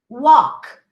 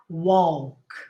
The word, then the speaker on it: walk: something like this okay forget the l you say talk not talk walk not walk all right and i